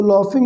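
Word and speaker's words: laughing: तो लाफिंग में क्या है, ये जो GH है इसका प्रोनाउंसिएशन फा हो रहा है, ये ध्यान देना है आपको।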